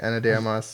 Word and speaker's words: Ana de Armas: Ana de Armas.